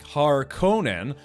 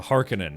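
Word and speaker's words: Harkonnen: But the thing is over the years, yeah, different movies and video games and stuff have pronounced it more like Har Conan uh as opposed to Hearkinan. And I don't know, both of them sound okay to me, but I I think that's where there's a linguistic difference.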